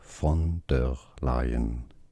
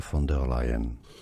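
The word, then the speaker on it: von der Leyen: the European Commission let's go through the German pronunciation the original pronunciation of her name. I don't like this guy's voice, man. German from Germany. Not Dutch. German. German pronunciation. Ursula. Ursula. Fer lion. Ursula. Fonder lion.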